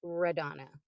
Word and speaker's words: Radonna: of different pronunciations, but it is spelled like it sounds like Madonna, but with an R. It's actually pronounced Radonna.